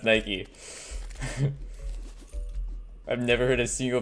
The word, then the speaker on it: Nike: It's definitely pronounced Nike.